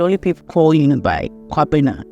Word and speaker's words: Kobina: people calling you by Kobina. Right. Everyone else calls you Kobina, except, of course, Ghanaians who know how to pronounce it.